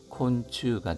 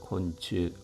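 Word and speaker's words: 昆虫: 참고로 벌레 충자인 무시가 음독을 읽힐 때는 추라고 발음이 됩니다. 그래서 곤충을 얘기할 때는 콘츠가 되겠습니다. 곤추 참고해 주십시오.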